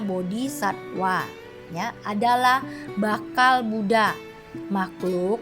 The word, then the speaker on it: bodhisattva: bodhisatta atau bodhisatwa ya tertulis bodhisattva bacanya bodhisatwa Ya adalah bakal Buddha